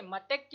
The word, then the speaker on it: मतैक्य: पहचानना है, तो मत, मत के उच्चारण में क्या आ रहा है, त अ का उच्चारण हो रहा है और अ धन ए मिलकर आपके ऐ का निर्माण करते हैं, तो मतैक्य। ठीक है, मतैक्य इसका उच्चारण होगा, तो यहाँ पर वृद्धि संधि होगी।